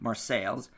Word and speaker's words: Marseille: Marseille, with sales at the end, Marseilles.